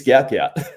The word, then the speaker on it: Gout Gout: But then I noticed Gout Gout's manager has come out and be like, "Fuck Gout's dad, it's Gout Gout," which I think is pretty aggressive.